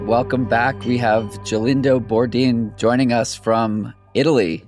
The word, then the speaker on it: Gelindo: Jelindo, so it's quite quite easy, let's say. Awesome. Well, Jelindo, uh, the first question of this podcast is always a tough one.